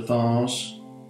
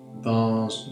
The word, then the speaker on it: vase: water onto the vase bars vase all those depending how Posh you are that's how you say it royal blue again just